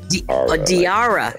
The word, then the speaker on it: Diarra: I yeah Dr y like Dr like d diara right okay diara from Detroit and and she